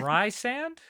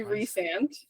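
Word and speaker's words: Rhysand: d and Ry and s n d yeah Ry sand yeah so it's actually reand reand yeah okay but she puts a pronunciation guide in the beginning of the book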